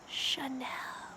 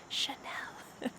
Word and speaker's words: Chanel: next is chanel chanel don't be fooled this word has a ch but we don't say ch it sounds like be quiet chanel chanel next is louis vuitton